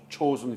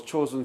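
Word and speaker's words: Chosin: few in parenthesis because chosen few is japanese pronunciation of zhang jin in chinese character and korean government cannot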